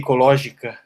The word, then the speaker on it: ecológica: How would you pronounce that in Portuguese? I think you'd say mate ecológica.